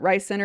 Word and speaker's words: RYSE Center: I believe you pronounce it Rice Center if you're pronouncing the acronym, but RYSE Center in